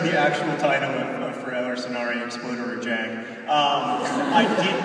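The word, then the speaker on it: Förr eller senare exploderar jag: That is the title of the Swedish version of The Fault in Our Stars, and it is pronounced for Eller Sonare Explorer Job!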